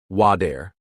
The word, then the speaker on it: water: Example, water sounds like wader.